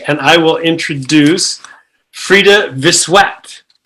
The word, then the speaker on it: Frida Vissuet: So I would love to introduce, and we are working through track 3, and I will introduce Frida Vissuet.